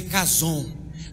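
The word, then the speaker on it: חזון: Do original se fala Kazon, se escreve Chazon, mas se lê Kazon.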